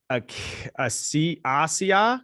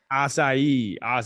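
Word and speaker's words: açaí: got delicious flavors including mango passion fruit raspberry a c asia acai god you got to get that right acai well it's so exotic that's that's how you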